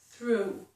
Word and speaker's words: through: Here's another EW, And look at this one, O-U-G-H, through. It's actually O-U, but the G-H is silent.